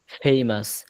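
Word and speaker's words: famous: নট ফেইমাস উচ্চারণ হবে ফেইমাস ফেইমাস যারা আরবি বোঝেন আরবির ফা ফাটা যেখান থেকে উচ্চারণ হয় এইযে নিচের ঠোটের আগা থেকে ফা ভিটাও হচ্ছে এফ এই দুইটা উচ্চারণ হবে নিচের ঠোটের এখান থেকে ফেইমাস ফেইমাস হ্যা আচ্ছা মাদ্রাসাটি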